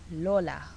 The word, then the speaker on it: lola: sounds really cute it's Lola Lola and the O is a short o it's not a long o It's Not Lola it's Lola for L for L